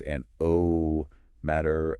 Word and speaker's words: anemometer: That is pronounced an- oh- meter, uh It is a critical piece of diagnostic equipment.